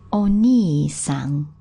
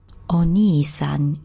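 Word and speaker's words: お兄さん: When we want to refer to someone else's older brother, we need to be more polite. We need to pop the honorific o prefix in, and we add the kanji, the pronunciation, which now changes to ni. Ani on its own, but ni when it's preceded by o and followed with san.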